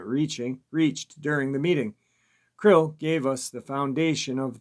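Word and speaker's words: KRLL: captivity k-r-l-l or k-r-l-l-l or c-r-l-l or c-r-l-l-l pronounced krill or krill was the hostage left with us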